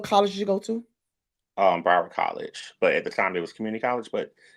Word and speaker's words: Broward: Broward College. But at the time, it was community college, but it's called Broward College now. What's it called? Broward College.